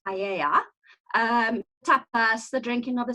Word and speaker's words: paella: We call it paella. The Spanish pronounce it paella.